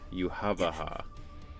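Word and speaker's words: Yhwach: pronounced officially. Yuhavaha.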